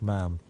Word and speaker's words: ma'am: as deary instead of the correct ma'am, even demonstrating the proper pronunciation by likening it to the word spam.